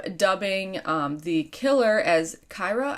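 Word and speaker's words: Kira: um the killer as kyra i believe is how you say it um k-i-r-a and so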